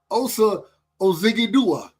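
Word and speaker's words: Odighizuwa: Osa Ozigidua.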